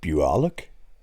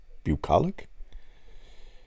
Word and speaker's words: bucolic: land was not idyllic or how do you pronounce that buolic bucolic like in Switzerland it had repeatedly been hammered